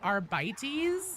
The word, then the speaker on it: Arbites: It should be arbites since with Latin you're supposed to pronounce all the letters.